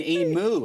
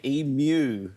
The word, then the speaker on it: emu: how they pronounce it I have to tell them it's Mew like Museum emu it's very hard you've